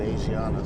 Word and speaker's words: Asiana: So at first I thought I was pronouncing this airline wrong by calling it Asiana, and because the spelling is like Asian. So, but when she introduced the airline to us, she said Asiana.